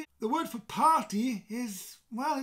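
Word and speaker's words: parti: each other okay so the word is party party yes it sounds like the English word party but you roll the r and you will slight more of a uh a breaking up of these sounds you know the two syllables party in Welsh in English party in Welsh party party and what what you're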